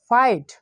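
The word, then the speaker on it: fight: এখানে আমরা আরেকটা রয়েছে, যদি আমরা আই এর পরে জিএচ পাই তো এই জায়গায় জিএস সাইলেন্ট থাকবে কিন্তু আয়ের উচ্চারণটা আয়ের মতো হবে। এফ আই জিএসটি ফাইট, এন আই জিএসটি নাইট, অর্থাৎ এখানে জিএস এর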